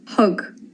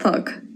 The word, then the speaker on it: thug: Hug. Hug. Not thug. It means gave.